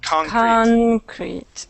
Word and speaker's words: concrete: made of concrete uh change the accent on conch on that word concrete oh there you go nice yeah okay yes it would be concrete okay how am i